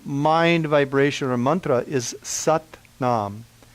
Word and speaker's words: Sat: In Kundalini Yoga, the main mind vibration or mantra is Sat Nam. S-A-T, pronounced a little bit like S-U-T, Nam, N-A-M, Sat Nam.